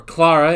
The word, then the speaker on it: Clara: adventures as he meets a young girl named Clara or Clara if you want to pronounce it the British way I won't but whatever